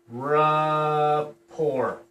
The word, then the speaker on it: rapport: want to build rapport rapport is spelled really weird ra poor all right report all